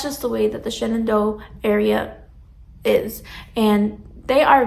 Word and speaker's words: Shenandoah: Me being from Pennsylvania, I say Shenandoah because that is the way I was, people around me pronounced it, but the way that other people who are outside of Pennsylvania pronounce it is Shenandoah.